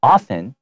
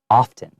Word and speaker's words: often: But some people do say it with the T. So you can often hear it often or often.